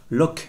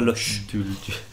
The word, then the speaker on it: Loch: Pour répondre aux commentaires, donc effectivement, on va dire à partir de maintenant, Locke et non pas Loche.